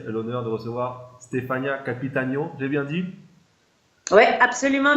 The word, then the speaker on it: Capitanio: Aujourd'hui, on a le plaisir et l'honneur de recevoir Stefania Capitagno. J'ai bien dit? Oui, absolument bien Ouh. dit. Je m'étais préparé.